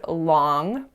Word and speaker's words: long: hard to catch but at the end of the word long we produce a velar nasal so I know it's spelt n G but native speakers aren't typically going to say that G unless they speak with a certain dialect which which happens but it's not nearly as common as the long pronunciation so as I was reading